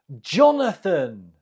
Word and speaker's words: Jonathan: say this name Jonathan Jonathan the stress is on the first syllable next how do you